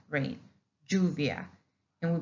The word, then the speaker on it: lluvia: And basically, we do not pronounce it as English.